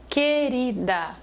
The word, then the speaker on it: querida: Se você prestar atenção a palavra querida o u não é pronunciado querida eu não escuto o